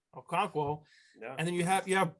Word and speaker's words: Okonkwo: Now that you have Hoop and you have Okonkwo, I said it right, Okonkwo, yeah.